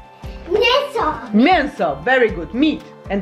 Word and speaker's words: mięso: Mięso, perfect. Remember the E with the tail? It's M. Mięso.